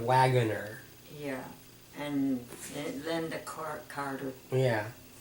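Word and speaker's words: Waggoner: Not Wagner, but Wagunner.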